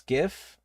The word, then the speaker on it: GIF: I think that's just the objectively wrong way to to take the gift gif debate to pronounce each letter individually.